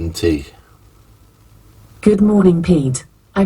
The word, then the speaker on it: Jusant: Anyway, Jusant, as I've been told it's pronounced, absolutely brilliant.